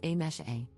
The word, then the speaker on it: Amse: For context, my name is written as amse but is pronounced as a mesh a.